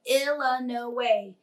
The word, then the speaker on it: Illinois: the Illinois state line he pronounced Illinois illa no way exactly the way everyone in by banks Kentucky pronounced it and hearing that Illinois